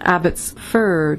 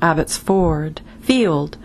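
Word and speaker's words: Abbotsford: amaret saret swinder broadcast the correct pronunciation Abbott's fur not Abbott's for field mother daughter Aunt sound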